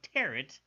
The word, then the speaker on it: tarot: Hey, now look, if they didn't want me to pronounce the T at the end of tarot, they shouldn't have put one there.